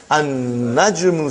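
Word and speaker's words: النجم: Now we have an-najmu. So how will you pronounce, brother? An-najmu ba'idun. You did not pronounce lam.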